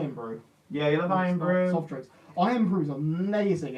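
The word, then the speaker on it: Irn-Bru: It's Iron Brew, but it's spelled with no O.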